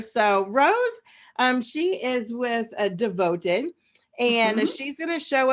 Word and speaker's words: Devoted: So I just wanted to let you know I'm with Devoted. It's spelled DVTD. It's Devoted with all the vowels taken out.